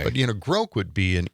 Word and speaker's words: Grok: Um did we find a pronunciation for grok yet? Sam, we're working on this. Uh from everything I'm seeing, it's grok.